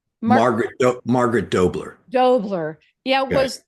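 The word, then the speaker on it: Margaret H'Doubler: How do you pronounce her name? Margaret H. Dubler? Mark Margaret Dobler.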